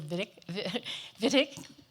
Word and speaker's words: Wittig: We have, on the panel, we have Germany's ambassador to the U.S., Peter Wittig. We just discussed pronouncing it V instead of W.